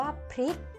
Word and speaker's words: พริก: คะ คำ ว่า พริก พริก อ่าน ว่า พริก เด็ก ๆ สังเกต คำ